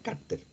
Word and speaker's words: cárter: Cárter es con acento en la A, ¿cierto?